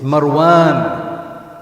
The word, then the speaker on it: Marwan: Then why do you stress the Mar? It's Marwan, not Marwan. It's Marwan, it's not Marvin. It's Marwan, it's the alif is Marwan, okay?